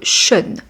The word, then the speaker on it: Sean: Mon nom s'écrit peut-être Sean, S-E-A-N, mais se prononce Sean.